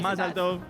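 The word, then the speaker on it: מזל טוב: Mazal tov.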